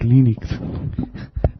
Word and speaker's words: Linux: It's pronounced Linux. Linux.